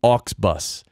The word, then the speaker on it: Auxbus: craft but pod craft has become ox bus an ox bus is spelled aux be us and the website is